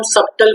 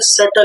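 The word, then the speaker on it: subtle: सुनता है, जिसको हम सबटल बोलते हैं बच्चों। क्या बोलते हैं? सबटल लोग बोलते हैं, लेकिन इसका सही प्रोनाउंसिएशन बच्चों पता है क्या होता है? सटल होता है।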